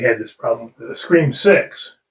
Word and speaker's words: Scream VI: We had this problem with the Scream 6, correct?